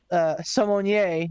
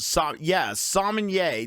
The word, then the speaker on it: sommelier: Minimal involvement from the Sommelier, as Poot told me how to pronounce it tonight. Sommelier. WWE, get your shit together. It's not salmonella or whatever the fuck ever you say. It's sommelier.